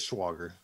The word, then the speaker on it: Schwager: Schwager? No, that's not Christian Schwager, is it? Nah, I thought it was Crenshaw. I'm trying to find Crenshaw. It is Schwager.